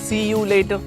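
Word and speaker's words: see you later: ഇത് പറയാനുള്ള കാര്യം ഇതിൻ്റെ കൃത്യമായിട്ടുള്ള ഉച്ചാരണം എന്ന് പറയുന്നത് സിയ ലേറ്റർ എന്നാണ്. സിയ ലേറ്റർ എന്നാണ് ഇതിൻ്റെ കൃത്യമായിട്ടുള്ള ഉച്ചാരണം.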